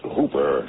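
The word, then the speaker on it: Houper: The name's Hooper, spelled H-O-U-P-E-R, but pronounced to rhyme with Cooper.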